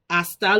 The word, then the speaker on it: hasta: has a purpose but we do not pronounce the h try to write that